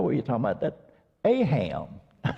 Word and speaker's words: AHAM: inviting me to be here on behalf of AHAM. We have some other folks here who are graduates of some of AHAM's programs. And AHAM, as I shared this morning, it's spelled, of course, A-H-A-M, and it's pronounced AHAM, not like they say